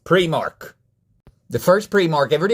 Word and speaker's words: Primark: It's not pronounced Primark, it's pronounced Primark.